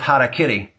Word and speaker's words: harakiri: watching American television though the American pronunciation of harakiri Sounds like Harry Carey the name of the